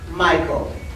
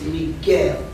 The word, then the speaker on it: Miguel: the one chatting with my name is not Michael it's Miguel m i g u e l pronounce it right or we can take